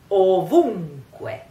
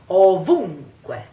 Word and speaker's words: ovunque: So, we have to say it as a nasal, ovunque, ovunque. Can you hear? Ovunque. Try. Ovunque. And the stress is on the U. Ovunque.